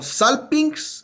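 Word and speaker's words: σάλπιγξ: mención a la palabra salpingis que os que es uno es la pronuncia como sal pings es bien difícil de pronunciar por eso la tengo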